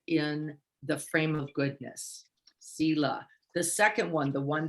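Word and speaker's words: sīla: They were Sila, S-I-L-A, or sometimes pronounced Shila, Sila, which means the moral compass, the eightfold path.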